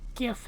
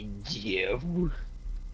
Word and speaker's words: GIF: Now all I need is a little like GIF animation of a steering wheel being turned. Actually, it's called a GIF. A what? GIF. A GIF? Oh my god.